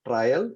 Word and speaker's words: trial: by the way uh it's pronounced trial and not trail trail has a different